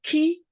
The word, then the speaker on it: Cay: We pronounce it Key, like Key, but it's CAY.